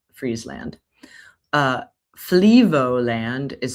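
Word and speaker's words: Friesland: Fry land, but I'm pretty sure it's pronounced Freezeland.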